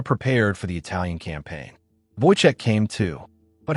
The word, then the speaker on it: Wojtek: They named him Wojtek, pronounced Wojtek, derived from Wojtek, meaning joyous warrior.